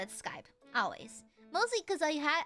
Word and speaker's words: Skype: Um, how'd you pronounce Skype when you first saw it? I actually call it Skypy.